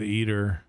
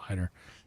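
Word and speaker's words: Eitr: I know it's probably pronounced ider. I will I'm sure I will always say eater because it's that's just how I first said it.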